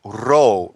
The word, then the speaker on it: Rho: Rho in Greek, the letter is pronounced Rho, which is a very special word, and it means it's spirit breath, coming from the Gemini that I am.